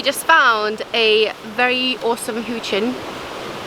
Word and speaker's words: huchen: We just found a very awesome huchen. Am I pronouncing it right? Huchen. Yeah, huchen.